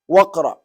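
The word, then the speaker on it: واقرأ: When you are pronouncing it, Waqra, do you hear Alif? No. What are you hearing? Waw and Qa.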